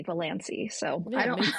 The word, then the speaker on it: Valancy: I just rhymed it with Nancy, Valancy.